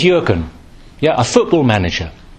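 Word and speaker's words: Jürgen: you pronounce his name Jurgen klopp yeah who is the new manager at Liverpool Football Club apparently this is yuren yeah a football manager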